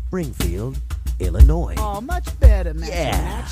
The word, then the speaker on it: Illinois: but don't say it boy when mentioning Springfield Illinois man I meant to say Springfield Illinois oh much better man yeah all right Jefferson